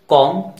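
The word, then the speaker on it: comb: सी ओ एम B, pronunciation कॉम.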